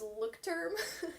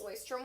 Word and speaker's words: Leuchtturm: I thought it was Leuchtturm. So you might have seen them. It looks like Leuchtturm 1917, but it's pronounced Leuchtturm.